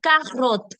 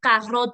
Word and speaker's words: carotte: is in French, or carotte, which is in French. Hang on. Didn't we just do that C is say? Then why are we saying carotte and culture?